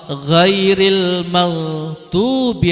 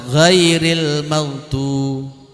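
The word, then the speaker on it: غير المغضوب: Ada yang membaca ghairil maghdub, ada yang membaca ghairal maghdubi. Tapi secara umum jumhurul ulama membacanya pakai jer, ghairil maghdub. Walaupun ada ulama seperti Zamakhsyari yang menyebut bacanya ghairal maghdub.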